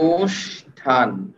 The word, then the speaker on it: অনুষ্ঠান: আমাকে এইটা বলেন যে অনুষ্ঠানের মূল বানানে ছিল মূর্ধন্য সব এইখানে আমি উচ্চারণে তালুব্য সব কেন লিখলাম মূল শব্দে যে সই থাক না কেন উচ্চারণে অবশ্যই তালব্য স লিখতে হবে মূল শব্দে যে সই